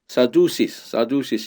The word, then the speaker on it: Sadducees: 그리고 바리새인과 라이벌 관계에 있는 사두개인들은 Sadducees 이렇게 발음이 되는데요.